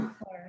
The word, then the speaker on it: comfort: Comfort. Yes, this is a noun with 2 syllables. So obviously, where will be the stress? First.